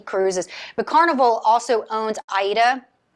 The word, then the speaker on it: AIDA: but carnival also owns aida not sure how the germans pronounced that cruise lines but the americans aida that is a uh